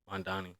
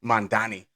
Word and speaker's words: Mamdani: Mandani. Mandani.